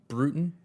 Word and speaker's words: Broughton: by by the Edgar uh how do you pronounce the last name again? Brutin.